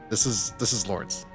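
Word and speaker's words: Lorence: So this is Lawrence. Joshua says his name. I always pronounced it low, but I guess it's like a German name.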